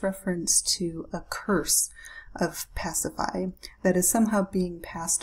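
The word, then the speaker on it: Pasiphaë: is going to be pacified so that's how you say her name pacify she is Phaedra's mother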